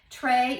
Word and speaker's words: Tre: is the bronchial tray tray is t-r-e trey is the italian pronunciation for three there are three grapes